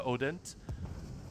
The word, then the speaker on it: Hodent: And I've quoted this a bunch of times, but the awesome psychologist Celia, it's spelled Celia Hodent, but she's French, so it's pronounced Celia Odent.